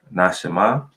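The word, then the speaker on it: נשמה: So 5397, this word can be pronounced Nashama, and it's from 5395, Nasham.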